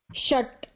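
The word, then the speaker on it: षट्: Sha is talavya, sha is murdhanya. Yeah. Example, udaharanam. Shat, murdhanya. Shat.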